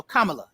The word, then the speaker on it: Kamala: did on the DNC it's just like the word comma that little thing that's you know that little punctuation thing it's a comma and a l so Kamala that's how you pronounce